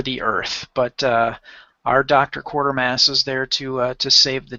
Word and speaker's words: Quatermass: You see it says the Quartermass Experiment, how we pronounce Quartermass. They kept a lot of the actors would say Quatermass. It was like a fast way of saying it that was still